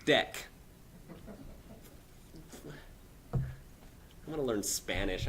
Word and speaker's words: deque: No, it's not DQ. It's DEC.